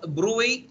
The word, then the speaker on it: bruit: قلنا تلفظ بروي لكن تكتب برويت.